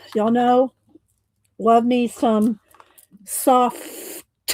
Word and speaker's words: SOFFT: Y'all know, love me some soft. I say it like that because it's written SOFFT.